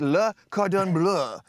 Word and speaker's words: Le Cordon Bleu: Let's talk about this journey from Am I pronouncing it correct? Le Cordon Bleu.